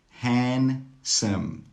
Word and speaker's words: handsome: Wednesday, Wednesday. Handsome, handsome. Sandwich, sandwich. All of these words have a silent D. That means you don't need to pronounce the D sound.